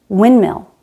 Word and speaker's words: windmill: This happens in words like sandpaper, soundproof, landmark, windmill. We drop the D because it's between two other consonants.